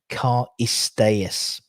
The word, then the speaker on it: Charisteas: It's said, and Dennis is my sort of pronunciation coach. Charisteas.